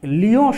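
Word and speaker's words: Lyon: তো এরকম একটি ভয়াবহ অবস্থার মধ্যে ফ্রান্সের লিও শহরে, শহরটির নাম হচ্ছে লিও, ইংরেজিতে লিখলে এরকম হয় কিন্তু বাংলা উচ্চারণ হবে লিও। এই লিও শহরে এখানে রুটি কেনার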